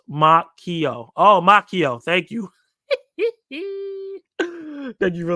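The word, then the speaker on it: Macchio: proper uh pronunciation for me Ral maio has pronounced my makio oh makio thank you thank you for that makio plot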